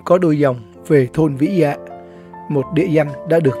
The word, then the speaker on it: Vĩ Dạ: Thực ra, nguyên thủy thôn này có tên là Vĩ Dạ. Chữ Vi trong Hán ngữ có nghĩa là lau sậy, còn được đọc là Vi hay Vi Lô.